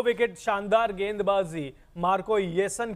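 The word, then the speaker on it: Jansen: wicket शानदार गेंदबाजी Marco येसन की मार्को स्पेलिंग आप जरूर जे से स्टार्ट हो रही है लेकिन जे साइलेंट है वो येसन है तो शानदार प्रदर्शन नाम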